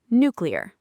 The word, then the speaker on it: nuclear: The incorrect nucleular version is very widespread, but the correct pronunciation is nucleer. New cleer. Nuclear.